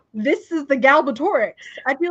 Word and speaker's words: Galbatorix: your dinosaur thing his his name is not galor Rex it's galbatorix that's what I've been saying